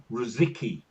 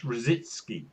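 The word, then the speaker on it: Rosický: And Too much After a decade of playing in London, they were still calling him Rosicky, even though it's Rositsky. And they asked him, and he said, honestly, I don't care.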